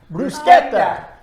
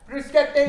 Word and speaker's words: bruschetta: Bruschetta. Bruschetta. You guys may pronounce it bruschetta, but it's bruschetta.